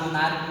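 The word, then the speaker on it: monarch: यहाँ पे मोनार्क में एच साइलेंट हो गया, तो स्टूडेंट में एच साइलेंट हो गया।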